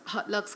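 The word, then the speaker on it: Haute Luxe: that's .com, or on the IG is just Hot Lux Clothing.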